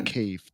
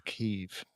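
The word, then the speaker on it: Kyiv: It's the same as the Kiev thing. They changed it to Kiev. People used to call it Kiev because that's how the Russians used to pronounce it. So they changed it back to Kiev.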